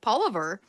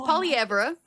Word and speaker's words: Poilievre: us, you know, Anglo kids were calling him Polliver. So anyway, it's Polyra.